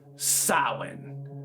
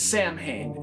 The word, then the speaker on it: Samhain: Samhain, often mispronounced as Samhain and much easier to say, so I will call it Samhain.